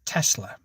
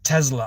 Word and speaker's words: Tesla: There's no Z in it. It's Tesla. And she said, no, it's definitely Tesla.